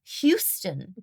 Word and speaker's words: Houston: Hugh, as in Hugh Grant. Houston.